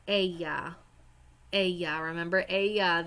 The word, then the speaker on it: ella: Ella. Ella. Remember, ella. Double L's are pronounced kind of like a Y.